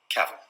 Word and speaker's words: Cavill: Now, Henry Cavill, on the other hand, Cavill is pronounced like travel. Travel. Cavill.